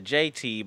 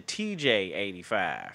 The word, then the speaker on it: TJ85: I got his name wrong. And I said Mr. JT, but it's Mr. TJ85.